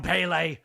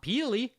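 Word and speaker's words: Pelé: If if Ple heard you pronouncing his name Ple. Isn't that how you say it? It's not Peely.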